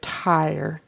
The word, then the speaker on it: tire: the goose began to tire it sounds like says twice or twice instead of tire tire kind of inserts a w there um and doesn't really do the vocalic r ir and he adds on